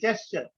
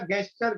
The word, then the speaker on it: gesture: जैसे GESTURE, we pronounce it एट द जेस्चर, लेकिन बचपन में हमारे किसी ने सिखाया था गेस्चर गेस्चर, और बूढ़े अब तक हो गए, अब तक हम उसको गेस्चर ही पढ़ते हैं।